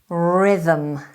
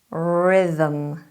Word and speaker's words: rhythm: ninth word is rhythm rhythm rhythm rhythm is spelled r h y t h m rhythm so there are two h's but one of them is silent and that's what makes this word tricky a rhythm is a